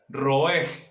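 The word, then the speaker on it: ראה: La palabra para profeta en hebreo, colóquelo por favor, se escribe roeg.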